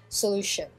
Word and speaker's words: solution: Ici, donc, on mettra un peu l'accent sur la deuxième syllabe, c'est-à-dire que c'est la deuxième syllabe qui va être un peu plus en avant, et donc on dira solution.